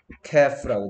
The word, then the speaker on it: calf: 여기에 L이 소리 안 나요. 그래서 calf라고 발음합니다. calf.